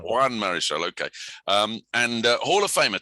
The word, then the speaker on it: Marichal: You're going to have to tell me if that's the right pronunciation. Marichal. Juan Marichal.